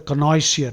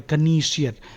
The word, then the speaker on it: connoisseur: The opposite is a connoisseur or a connoisseur.